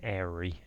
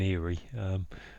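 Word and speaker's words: eyrie: An eagle's nest is also known as an airy, which is spelled something like E-Y-R-I-E, and it is, as some would say, because I normally call it an eerie, but I guess I don't know what the pronunciations are on those things.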